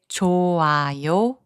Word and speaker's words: 좋아요: The consonant 히응 becomes silent when it is the last consonant of a syllable. Let's take a look at the examples. 좋아요, which means good, is pronounced as 좋아요.